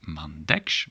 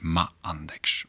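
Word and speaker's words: m'għandekx: The m is here with a little inverted comma because it starts with, well, it starts with the ein, but it isn't pronounced. So then you don't say ma andeks, mandeks, because it's silent. The ein.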